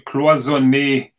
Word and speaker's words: cloisonné: Yeah, Russell 996 says, please say cloisonné correctly, and that's the sure. correct. Cloisonné, am I cloisonné?